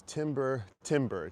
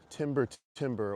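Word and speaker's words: Timber Timbre: But, anyway the name of this band was Timber Timber. t i m b e r t i m b r e Timber Timber or Timber Tamber.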